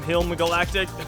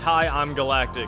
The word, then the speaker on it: Hi, I'm Galactic: I think I called him Hilm Galactic. Yeah, it's Hi, I'm Galactic. So I was informed that I was mispronouncing his gamer tag last tournament.